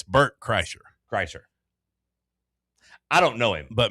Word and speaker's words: Kreischer: Well, I can say Bert, but Kirshner. How do you actually say it? It's Bert Kreischer. I don't know him, but mispronouncing it is.